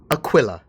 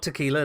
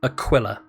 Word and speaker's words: Aquila: or Aquila but it's Aquila Aquila yeah so that the Q is pronounced as AZ we usually pronounced cues as a quoi and it's illa as in vanilla chinchilla move it on a